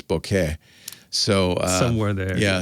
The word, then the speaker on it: bokeh: pronounce it some say bouquet some say bokeh and actually the japanese is somewhere in between a little bit it's bouquet so uh somewhere there